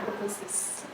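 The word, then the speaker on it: apoptosis: Membacanya akutosis. Jadi P-nya itu dihilangkan. Tapi memang tulisannya seperti itu. Autoposis tapi akutosis.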